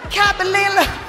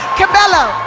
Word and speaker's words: Cabello: We can't exactly say if Camilla laughed it off to cover her anger, and she really found the pronunciation funny and laughed about it. Anyways, Camilla Cabalilla. Cabello.